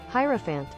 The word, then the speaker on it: hierophant: Arcane principles okay and how do you pronounce it I think it's time we finally learn from now hierophant wouldn't have thought it would be pronounced that way but okay hierophant okay